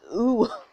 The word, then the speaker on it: UwU: This is ooh. This is UWU, but we pronounce it ooh.